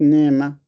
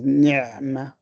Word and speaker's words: نعمة: Now, for the ain, especially when it has got a sukoon, you have to make it very clear. نعمة. Yeah. So it is not نعمة. It is نعمة.